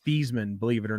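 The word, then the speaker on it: Theismann: well actually his name his real name is pronounced these men believe it or not really yeah he just started calling himself Joe Theisman for his um his uh Heisman run so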